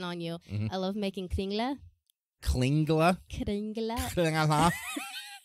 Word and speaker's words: Kringle: It's literally Kringle. KR. Spell it again. KRI. N. GLE. Kringly. Exactly. Kringle. Kris Kringle. People, that's what, like, Christmas comes, they're like, oh, it's Kringle. It's Kris Kringle.